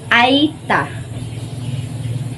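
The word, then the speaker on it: Aeta: adorned clothing their backgrounds I thought which is pronounced aita our native people whose warriors were Australians Aborigines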